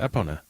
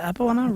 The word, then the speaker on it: Epona: Yeah, that's one of the ways you can get Epona. Yeah. So, and she's incredible. Is it Epo? Is it Epona? Really? Yeah. Yeah. That was Epona.